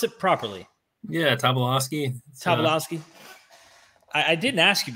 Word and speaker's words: Tobolowsky: Did I pronounce it properly? Yeah, Tobolowsky.